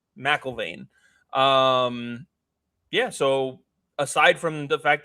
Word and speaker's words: McIlvane: Matt McIlvane? Is that how it's pronounced? McIlvane.